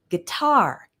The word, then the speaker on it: guitar: We have words like guitar, hotel, balloon. Those are all two-syllable nouns with the stress on the second syllable.